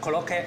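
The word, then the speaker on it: コロッケ: 呢啲日式嘅洋食叫 Koloke，其實個發音是日文發音嚟嘅喎。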